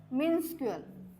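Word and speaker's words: minuscule: आहे tiny मिन्सकल okay याच काय प्रोनन्सशन आहे तर मिन्सकल ओके हे याच प्रोनन्सशन आहे तर अँटोनिम्स काय आहेत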